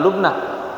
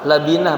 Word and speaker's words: labinah: lubnatan ala lubnah, ah eh bukan lubnah labinah bacanya ya kalau lubnah susu artinya, labinah saja karena itu Rasulullah sallallahu alaihi wasallam tidak menaruh satu bata di atas satu bata, begitu.